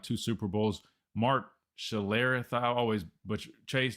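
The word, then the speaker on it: Schlereth: Mark Shalerith. I always butcher. Chase. Do you have better pronunciation on the last name, man? I think it's Mark Schler. You hit it right.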